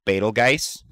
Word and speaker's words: Betelgeuse: I'm Which sorry, I- it's pronounced Betelgeuse.